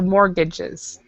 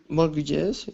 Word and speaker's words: mortgages: well then mortgages and with mortgages we actually do not pronounce the T So mortgages mortgages without a t yeah